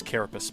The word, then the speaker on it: Carapace: Also, I think it's Carapace, but Carapace rhymes with ace, okay?